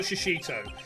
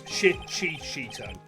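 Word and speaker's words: Shichishito: I think it's actually, Shishito. Is how we pronounce it. It's not Shishito. It's Shichito.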